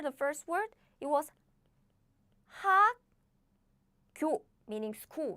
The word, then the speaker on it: 학교: So the first consonant of the following syllable is pronounced as a double consonant.